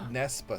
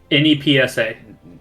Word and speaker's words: Nepsa: Whatever it's spelled, it's Nepsa because no matter what, my mind is going to say it, regardless if we actually named it the other way.